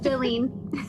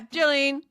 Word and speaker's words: Jalene: Jalene. Yeah, Jalene.